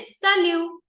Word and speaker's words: salut: लोग सालियो बोलते हैं वेयर टी इज साइलेंट ठीक है we will write T बट we will not से T okay so this is